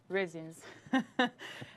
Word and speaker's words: resin: It sounds like raisins. Resins.